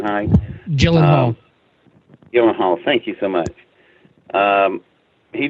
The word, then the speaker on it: Gyllenhaal: so a movie called October sky Jake ever pronounce his last name like gallon hi Jill Oh Gyllenhaal thank you so much he did a really